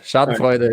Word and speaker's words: schadenfreude: yeah you're you're like you're spot on it's chad voider so you're you're really good shot voider is perfect yeah sorry for interrupting that well